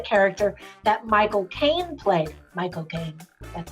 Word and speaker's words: Michael Caine: Michael Caine. That's how you say his name. Michael Caine.